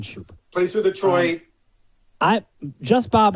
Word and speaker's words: Schoop: I've heard it as Scoop. Yeah. I've heard it as Scoop. I've heard it as Scoop. Scoop. I just say Jonathan Schoop.